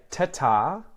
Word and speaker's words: ta-ta: And you can also say ta-ta, which is like short one, long one, ta-ta, ta-ta, to mean bye or see you.